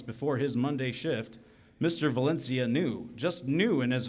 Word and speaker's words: Valencia: my coffee Mr mono Mr Valencia she says but she pronounces it Valena likening my name to a venial disease I think we're ready